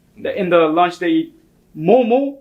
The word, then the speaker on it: momo: So, the thing is, we say it momo, not momos. It's not like pure. We don't say it like in the plural form. Okay. It's Momo. singular. Yeah. Not momos. No momos, bro.